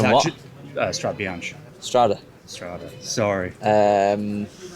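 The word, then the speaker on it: Strade Bianche: I'm gonna go get a coffee and learn how to pronounce Strada Bianca. No? Strada Bianca. Strada Bianca. Sorry, Tom. Sorry. Or it's actually Strada Bianca.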